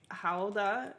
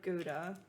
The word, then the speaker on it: Gouda: Okay, so what she's taught me is to say Hauda instead of Gouda.